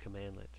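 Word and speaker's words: cmdlet: this name called commandlet the cmd led pronounced commandlet this is something new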